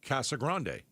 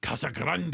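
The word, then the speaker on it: Casa Grande: See, I've always called it Cassa Grande, and I've been here since 1996, but you're telling me that that's not the right way to say it. I think most people say Cassagrand. Yeah, I've always heard it. And then when I heard somebody say Kasa Grande, I'm like, "Oh, yeah, that I like."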